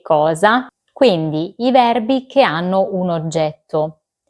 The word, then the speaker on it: hanno: Noi abbiamo, voi avete, loro hanno. Come avete visto, la lettera H si scrive ma non si pronuncia.